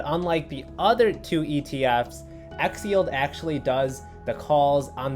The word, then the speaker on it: XYLD: Today we have XYLD. We can just pronounce this Xyld.